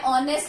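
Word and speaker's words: honest: अब यहाँ पे मैं ऑनेस्ट लिख रही हूँ, आप बोलोगे कि यहाँ पर एच है और मैंने एन लगा दिया। एन क्या है? आर्टिकल है। तो एच क्या है? इसमें साइलेंट है, इसलिए इसको प्रोनाउंस करेंगे ओ।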